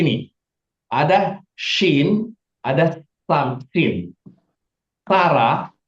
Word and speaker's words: Sarah: Sarah, nama Sarah itu pakai sin, bukan pakai shin ya. Bukan Syara, tapi Sarah.